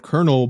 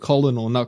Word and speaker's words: Colonel: a movie I heard him say the word Colonel but on the subtitles it would be spelled